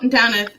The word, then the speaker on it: Damhnait: My name is Damhnait, spelled weird, pronounced Damhnait.